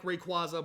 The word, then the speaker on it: Rayquaza: I don't care that it's not the canon pronunciation. I like Rayquaza more than Rayquaza.